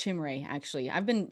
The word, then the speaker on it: Chimere Dike: I think it's Chimere, actually.